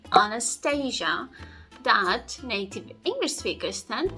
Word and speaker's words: Anastasia: ah and they say Anastasia Anastasia instead the stress goes on the very last syllable so it should sound as Anastasia Anastasia and our third example